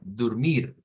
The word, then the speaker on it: dormir: Ahí sí sería dormir, con la sílaba tónica en mir, dormir. Nótese que cambia la O por una U.